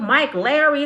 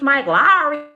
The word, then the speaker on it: Mike Lowry: They said you calling Will Smith Mike Larry. It's Mike Lowry.